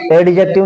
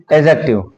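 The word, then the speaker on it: adjective: एडजेक्टिव नहीं, एजेक्टिव, ठीक है ना। जब भी अगर ए और जे के बीच में डी आए तो उसका साइलेंट कर देते हैं, ठीक है ना।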